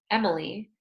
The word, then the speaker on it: Emily: vowel sound for example my name Emily has three syllables M it Lea right at MIT Lea other